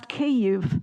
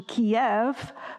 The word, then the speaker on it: Kyiv: The honorable and the as we learn to pronounce Kyiv, not a single syllable spelt, but caving into the Russian Kiev, but keeping Kyiv.